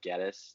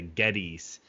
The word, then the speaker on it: Geddes: said it I said your last name is like like lettuce like Geddes you know oh yeah